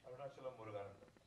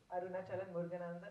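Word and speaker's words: Arunachalam Muruganantham: point of view, and you've made him portray Arunachalam Muruganan. Have I said it right? Arunachalam Muruganandan. Arunachalam Muruganandan.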